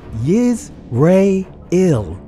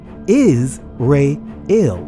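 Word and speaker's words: ישראל: Altogether, they are pronounced yiz re il or is re il.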